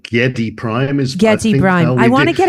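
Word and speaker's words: Giedi Prime: the Bible was that if Frank Herbert said Getty Prime then Getty Prime is how it was but Chie there's about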